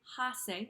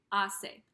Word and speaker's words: hace: day hace buen tiempo notice with the H here I don't say ha say I don't pronounce that H sound I don't say ha say when tempo I just say hace so I write it